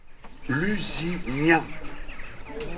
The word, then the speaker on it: Lusignan: L'usin c'est ça l'usin qu'on doit prononcer maintenant.